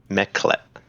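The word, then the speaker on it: Mekelt: you can't say who it is uh it's meclet from pronouncing it right m-e-k-e-l-t all know that mikkelt is the chaotic neutral uh goddess of deception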